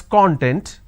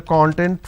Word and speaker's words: content: make a mistake now when we pronounce this as content the meaning it means an ingredient or index for example please give me the content for the training okay now when i say content let me change the color here now when i say content this means being happy for example are you content with the training okay now that makes a